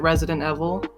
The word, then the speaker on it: Residnt Evl: Oh, just to mention, it's Resident Evil, but it's like spelled weird, so I pronounce it Resident Evil.